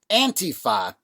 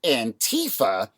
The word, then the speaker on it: Antifa: But when it's pronounced Antifa, it still at least somewhat evokes anti-fascism, whereas the pronunciation Antifa further removes the word from its meaning, so it can be more easily manipulated by our enemies on the right.